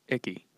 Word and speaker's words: Icke: tank for a giant spaceship about that was pronounced icky you think David Icke you think people are